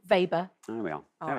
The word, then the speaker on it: Weber: to be W, but it's going to be pronounced V, isn't it? Do you I want me to don't know enough about magnetic flux. Weber.